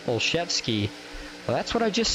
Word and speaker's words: Olszewski: Joshua Olszewski says, while we're talking pronunciation, it's Olszewski.